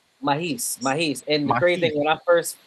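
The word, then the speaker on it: Maahes: Aka how you pronounce his name? Mahis. Mahis.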